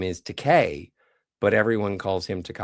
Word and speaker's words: Takei: him Koig, but George's last name is Teay, but everyone calls him Teai.